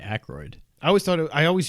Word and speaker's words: Aykroyd: his name i say aykroyd i always thought i always used to when i was a kid i always thought there was an n i thought it was angroid oh it's definitely not